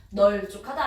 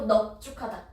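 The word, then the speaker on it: 넓죽하다: 널쭉하다 아니고 넙죽하다.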